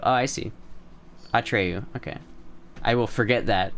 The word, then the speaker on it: Atreyu: My screen name is not good at pointing out how to say it, so it's Atreyu, Atreyu. Oh, I see. Atreyu, okay.